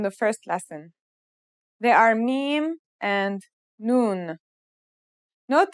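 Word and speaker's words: ميم: Now let's start with our first letter, Meem. This letter sounds just like the English M, and it should be pretty easy to pronounce.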